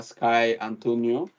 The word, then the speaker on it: Skye Antoniou: So you can look for her, Skye Antoniou. I hope I pronounce your name right.